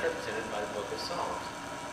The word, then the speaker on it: Psalms: That leaves us with poetry, which is best represented by the book of Psalms. You'll notice it has a silent P at the beginning, unlike prophecy, which does not.